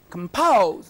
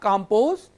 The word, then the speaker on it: compose: So, you have seen two-syllable words, like compose, not compose. Compose.